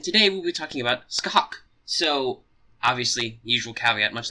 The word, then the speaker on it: Scathach: And yes, the name is pronounced Scathach, even though the way it's written.